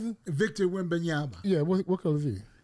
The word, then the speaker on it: Wembanyama: Wimba? How you pronounce it? Victor Wembanyama.